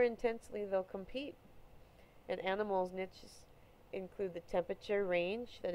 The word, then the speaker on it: niche: Some people pronounce that word niche. I usually say niche.